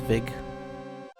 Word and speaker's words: Ludwig: Ludwig's castle. Ludwig? I believe it's Vig. The W is pronounced like a V because Germans don't understand how language works.